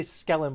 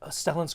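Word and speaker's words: Stellan: Thank you Stellin. I want to say Skellen but I think I'm I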